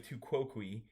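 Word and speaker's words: tu quoque: ahead to cqui the the logical fallacy of tuqui uh in Latin it means you also is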